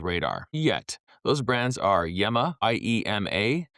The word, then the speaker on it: Yema: Those brands are Yema, i.e.m.a. You'll hear the French say Yama.